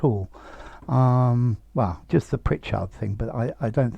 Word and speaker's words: Pritchard: an attractive man pritchard pritchard you can lengthen this hard as much as you want but you've got to put the stress on the first bit on the pritch pritchard poor thing well